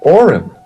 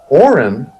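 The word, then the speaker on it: Auryn: In the never-ending story, there is a magical necklace that is called the Auron. And it's spelled A-U-R-Y-N.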